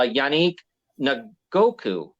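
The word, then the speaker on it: Yannick Ngakoue: there the the corner from Las Vegas uh yanique Goku that's how you say his name from Indy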